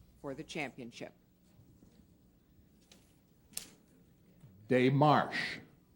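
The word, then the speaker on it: démarche: spell for the championship day Marsh day Marsh or day Marsh dear this is a French word and it means a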